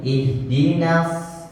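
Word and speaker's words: اهْدِنَا: I ihdimik nanya jangan terlalu tebal Pak tipis jangan sampai terikut terseret kepada hurufad yang tebal ihdah jangan sampai ih tarik lagi pak lebih tipis lagi ihdin hurufnya lebih tipis ih ihdin mustaqim ulang sekali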